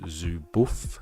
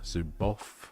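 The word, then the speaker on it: Zuboff: coined by uh Shashana Zubof, Zubof depending on how you pronounce her name.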